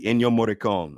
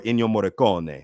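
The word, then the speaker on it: Ennio Morricone: bad and the ugly enyo moricon or enyo moricone i think it's pronounced but i love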